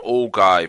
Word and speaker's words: ogive: called EC DFS and they're also known as ogives although if you pronounce that as an old guy I won't hold it against you because I used to that as well and I don't see